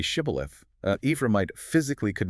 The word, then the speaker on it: shibboleth: forced them to say shibboleth, uh Ephraimite physically could not pronounce it correctly. The regional accent forced them to say sibboleth with a hard S instead of the shish.